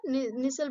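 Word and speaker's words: Nissl: निसल bodies बोलते हैं।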